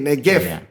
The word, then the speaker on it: Negev: Itu Negev, bacanya B kan V, Negev.